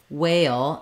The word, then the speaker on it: whale: Gray or day um so whale and whale um you're going to want to make sure you just have that nice a sound when we go to the L at the end a it's a dark L sorry my uh pen is not working so well here um we have to Glide between the A and the uh before the L so you might think about thinking about it as having that Y sound a a um that